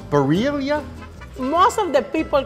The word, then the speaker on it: birria: How do you roll your R's? I don't get how you could do that, but I want to. I know, you know, but it's birria.